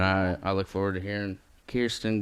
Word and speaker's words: Kierstyn: So pronounce like Kierstyn, like Queerston or Insecurestyn.